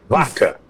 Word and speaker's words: Vaca: Direitos Humanos da OEA baca é vaca né que a pronúncia em espanhol é o Baca não aqui aqui é português Cláudio aqui é portuguê